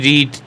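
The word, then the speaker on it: read: যেমন হি রিড the books, the books were হয়েছে, the books যেহেতু বুকস বইগুলো, ওয়ার হয়েছে, রিড বাই হিম, ভার্বের third form রিড অ্যান্ড রেড, এটা রেড বলা হয়, যদি প্রোনাউন্সিয়েশনটা দেখেন তাহলে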